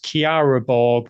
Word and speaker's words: Chiara: And you did get one name wrong, but I know it is Chiara Borg, not Chiara. Oh, sorry. I always said Chiara and it's Chiara.